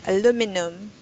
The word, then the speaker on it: aluminum: pronounce it right like aluminum aluminum the stress part of the word is the mean this part let me just this word this in the middle is the stressed syllable aluminum right iron iron